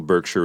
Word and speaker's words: Berkshire: The original Berkshire is in England, south of Oxford. The English pronounce it Berkshire.